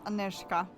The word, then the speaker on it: Aneshka: on a professional level I'm pretty sure that one is actually pronounced aneshka did aneska ever complained about any